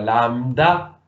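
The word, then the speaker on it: λάμβδα: Aquí solo puede entrar la lambda, que para pronunciarla es postalveolar, lambda.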